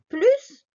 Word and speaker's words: plus: deux acteurs x donc on ne prononce pas le s de plus devant un adjectif ou un adverbe exemple amine est plus grand que sa soeur